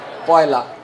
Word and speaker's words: পয়লা: মতো হিন্দি থেকে আসছে পহেলা কিন্তু বাংলায় উচ্চারণে সেটা কি হয় পয়লা তাহলে পয়লা বৈশাখের শুভেচ্ছা